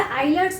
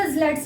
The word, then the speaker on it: islets: कई लोग इसे आइलेट्स ऑफ द लैंगरहैंस भी कहते हैं, लेकिन इसका जो एग्जैक्टली प्रोनाउंसिएशन है वो islets ही बोलते हैं।